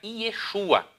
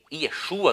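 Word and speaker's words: ישוע: Já no tempo de Esdras e Neemias era uma pronúncia um pouquinho diferente, era Yeshua.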